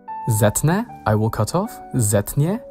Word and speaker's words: zetnę: It's only written sz to reflect pronunciation, but with the mobile e, the z comes back to its original pronunciation. Zetnę, I will cut off,